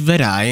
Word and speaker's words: Wutai: I was like, I would like to know what Wutai is. Oh shit, it's right there. Never mind. Pronounced Vedai in Rukai language.